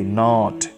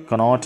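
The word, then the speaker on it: knot: ऐसे ही नॉट, कनॉट नहीं, नॉट, नॉट, नॉट के साइलेंट है, नॉट मीन्स गिरह।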